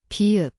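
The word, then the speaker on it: 비읍: bieup, It sounds like B/P. The place is the both lips.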